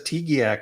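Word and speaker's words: TGIAC: T-G-I-A-C? I think Hubbard says Tegiac on the recording.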